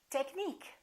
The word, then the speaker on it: technique: say engineer another rule if the word ends with i quu e we stress the suffix antique Boutique critique technique listen technical technique it changes critical critique let's learn